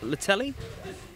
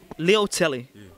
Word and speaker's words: Leutele: just follow me just teach me how to pronounce that last name man i just saying kiki but it's kiki tor litelli no neil tilly leo telly did i get it yeah start like butter